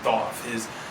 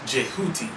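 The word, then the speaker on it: Djehuty: further insight on Thoth, whose name is being butchered whenever we say Thoth. If you look at how his name is actually supposed to be spelled, it's DHWTY or something like that. This is more closely to being pronounced Jehuti, which would be the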